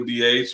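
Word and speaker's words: D'Aych: But the proper pronunciation is as uh Sandy said, DH.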